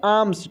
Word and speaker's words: alms: देखिए, लिखा है ALMS, यहाँ पे एल साइलेंट है दोस्तों, इसको हम लोग पढ़ेंगे आर्म्स। क्या पढ़ेंगे हम लोग? आर्म्स।